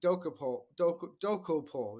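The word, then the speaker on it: Dokoupil: And one thing as we're talking about this, I wonder whether you want to talk about Tony Dokopol is how you pronounce his name, Right.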